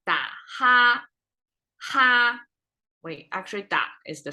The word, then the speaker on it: 打哈哈: We don't say da, ha, ha. It sounds flat and bookish. We say da, ha, ha. So ha is short and light at the same time.